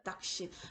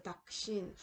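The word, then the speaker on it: दक्षिण: 그래서 닭신. 마치 앞에 나오는 음절의 끄가 앞에 나오는 음절의 받침처럼 발음이 될 거예요. 그래서 닭신.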